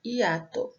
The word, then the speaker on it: hiato: Aqui, olha, pronunciamos apenas a letra I, hiato, né?